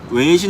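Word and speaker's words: 微信: 애플리케이션 몇가지를 소개해드리겠습니다 첫번째 위챗 중국어 발음으로 외신 이라고 불리는데 한국의 카카오톡 이랑 같은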